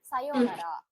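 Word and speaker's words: さようなら: இந்த யோ ப்ரொனவுன்ஸ் பண்ணும்போது அந்த ஊவும் அந்த யோ கூடவே சேர்ந்து ப்ரொனவுன்ஸ் பண்ணிடணும். ஊ தனியா ப்ரொனவுன்சியேஷன் கிடையாது, அந்த யோ கூடவே சேர்ந்து ப்ரொனவுன்ஸ் ஆயிடணும்.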